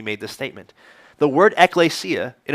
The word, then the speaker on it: ekklesia: Anybody remember how you pronounce it? Yeah, you guys are great. Good memory, ekklesia.